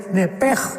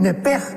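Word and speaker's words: נֶפֶשׁ: Entonces la pronunciación hebrea es nepej. Al salirse el nepej el alma.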